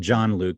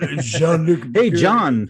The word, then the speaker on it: Jean-Luc: I said it wrong. I said John Luke because I'm a Jersey boy. Jean-Luc. Hey, John Luke. it's Jean-Luc Picard.